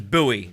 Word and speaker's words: Bowie: oh boy knife okay i pronounce it as buoy vehicles which is different from david bowie stop me from filming